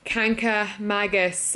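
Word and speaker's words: Kancamagus: Arcadia National Park anyway it's actually not mangas its Magus I keep saying it wrong I'm sorry for butchering kanka Magus it's just the word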